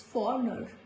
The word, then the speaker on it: foreigner: In all these words, letter G is silent, like foreigner, not foreigner, it's foreigner.